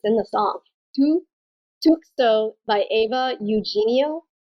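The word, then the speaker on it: Tukso: Tusko by Eva. Shit, hold on. Hey, we're all mispronouncing today.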